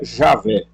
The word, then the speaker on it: Javé: Mas alguns resolvem pronunciar quem é Yahweh. Ou alguns preferem substituir o Y pelo J e quem é Javé?